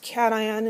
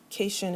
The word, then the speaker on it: cation: are called anions and these are pronounced cation and anion not casion and anion i always get one person say that so i'm just going to tell you so you can avoid embarrassing yourself cat ion and ion so anions